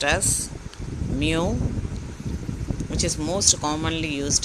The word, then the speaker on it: mu: The third symbol is pronounced as mu, which is most commonly used in student t-test.